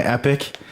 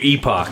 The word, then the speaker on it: epoch: what is that word i thought it was epic or i i can't remember what i said the original time and then i was corrected to say epoch i think that you thought it was epic and i was like look at the word it's clearly epoch like this doesn't make